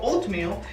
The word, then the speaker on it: oatmeal: Después de la O hay una A. Esa A está prácticamente ahí. Su única función es modificar el sonido de esa O para que no suene oatmeal.